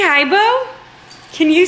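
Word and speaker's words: Beau: His name is Bo. It's spelled B-E-A-U.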